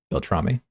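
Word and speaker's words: Beltrami: Is it Belrammy? Belrommy. Sounds right.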